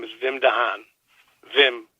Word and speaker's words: Wim: Wim, W-I-M in Dutch, is pronounced Wim.